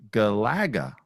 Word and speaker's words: Galaga: but told me why the correct pronunciation of Galaga emphasizes the second emphasizes the second syllable. Galaga for one simple reason.